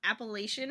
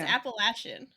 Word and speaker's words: Appalachian: years ago that uh we were being taught Appalachian Mountains for years like Appalachian it's Apple Asen I didn't know that